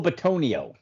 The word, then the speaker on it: Bitonio: I believe Joe, might not be the right pronunciation, but Benito? Joel Bitonio. Bitonio, yes. So both of them got extended this week.